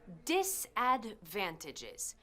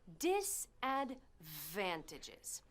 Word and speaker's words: disadvantages: Desventajas en inglés es disadvantages. Fíjate en la pronunciación. Disadvantages. Disadvantages.